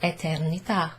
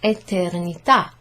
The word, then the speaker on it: eternità: And then eternità. Eternità. There's a sort of a grave accent on the A.